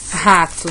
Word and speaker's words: rato: bonita aqui no papel o jeito certo é esse jeito aqui em cima com um R só mas a gente pronuncia como se tivesse dois erres rato existem pessoas de idade